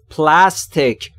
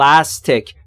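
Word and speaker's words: plastic: یعنی چینی یه سریشون پلاستک تلفظ درستش رو دقت کنید پلا پلاستیک پلاستیک نشنوم بگی پلاستیک بیا خیلی مثلاً فکر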